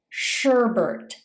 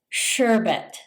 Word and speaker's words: sherbet: Some people pronounce this sherbet by adding an extra R sound. It's actually sherbet.